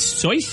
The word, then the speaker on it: Seuss: And it's Seuss, you said, is how we're supposed to pronounce it? That's JP. Yeah, I think it was actually pronounced Seuss.